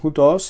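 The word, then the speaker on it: οὗτος: Tenemos diptongos al principio de las palabras, u y ao. En ambos casos hay un acento en la segunda vocal del diptongo, que es donde debería estar. El acento aquí en hutos es un circunflejo y aquí en haute es un acento agudo.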